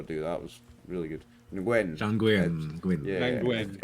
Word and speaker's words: Nguyen: Nguyen. Nguyen. Yeah, Nguyen. it's really like one syllable. Just that whole win. name. Yeah. Nguyen.